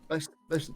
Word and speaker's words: boatswain: Bosun.